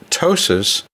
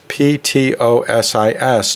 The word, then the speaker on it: ptosis: And then the second part of the word, ptosis, which is P-T-O-S-I-S, ptosis, that also means a falling.